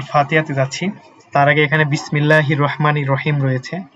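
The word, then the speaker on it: بسم الله الرحمن الرحيم: ঠিক আছে এই সাকেন উচ্চারণগুলো কি এখানে কিন্তু থামা যাবে না এখানে কোন টান নাই ঠিক আছে আমরা বিসমিল্লাহির রাহমানির রাহিম এখানে বিসমিল্লাহির রাহমানির রাহিম এভাবে পড়তে হবে যে এখানে যে সাকিনটা রয়েছে এখানে টানার কোন সুযোগ নাই ঠিক আছে তারপর দেখেন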